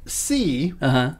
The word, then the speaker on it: See: C, starring Jason Momoa. Did I say it wrong? No, I think so. I think you said it right. No, I mean, is it C-E-E or C-E-A? It's C-S-E-E.